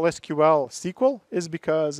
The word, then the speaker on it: SQL: pronounced I'd be squall it's an initialism you pronounce the letters not the word just so you know